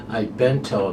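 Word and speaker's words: À Bientôt: And Tracy Farmer has a horse, a Bento, the number 6 horse, a Bento. That's how you say it in French.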